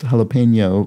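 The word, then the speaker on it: jalapeño: was brought up that jalapeno has a tilde above the n and habanero does not and i thought oh that must mean it's pronounced jalapeno versus habanero and then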